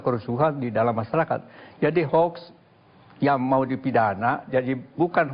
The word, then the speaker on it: hoax: P Hoa dan terorisme Hoa tulisannya h o a x Tapi bacanya hx Hoa artinya menurut kamus